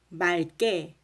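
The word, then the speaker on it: 맑게: 하지만 리을 기역이 이 기역 앞에서는 리을로 발음이 돼요. 리을 기역에다가 이제 기역이 오잖아요. 그러면은 그 기역이 뒤로 간다고 생각을 하세요. 그래서 이렇게 깨 이렇게 해요. 그러면 당연히 기역은 뒤로 가니까 리을만 남게 되겠죠.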